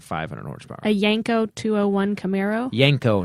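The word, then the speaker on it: Yenko: A Yanko 201 Camaro. Yanko, not Yanko. I said Yanko. Okay, Yanko. So that's badass. What did you think I said? Yanko. I thought you said Yanko.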